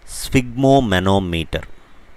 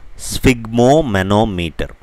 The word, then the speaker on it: sphygmomanometer: So the word is sphygmomanometer. I'll say it again, sphygmomanometer. The PH here should be pronounced as F, like in ophthalmologist, right?